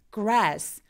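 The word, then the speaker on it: grass: 이렇게 소리가 나야 돼요 근데 그라스 풀 있죠 풀 걔네들은 혀가 뒤로 당겨져야 되기 때문에 쥐가 입술이 쭉 나오는 느낌으로 소리 됩니다 그래서 혀가 천장에 닿지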